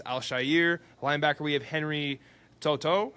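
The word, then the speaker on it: To'oTo'o: Linebacker we have Henry Toto.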